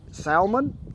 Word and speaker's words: salmon: Is it salmon or salmon? In Oklahoma, it is pronounced salmon. On the filet... The L is silent.